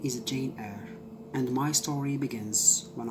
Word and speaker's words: Jane Eyre: And it is, by the way, Jane Eyre and not Jane Eyre, as I mispronounced the title last time.